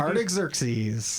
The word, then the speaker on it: Artaxerxes: You don't pronounce his name for me, would Artaxerxes.